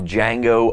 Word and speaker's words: Django: And on Thursday, we're going to give our review of Django Unchained. The D is silent.